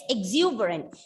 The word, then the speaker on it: exuberant: syllables in this and you are stressing on the second syllable so what about the